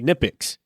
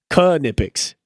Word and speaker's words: Knipex: Me like you and pretty much almost all of mechanics in the US, we say Knipex, but the actual company that makes it calls it Knipex. Like they pronounce the K in Knipex.